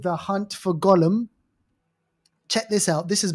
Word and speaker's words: Gollum: the the G rhymes with uh um solemn The Hunt for Gollum, Lord of the Rings.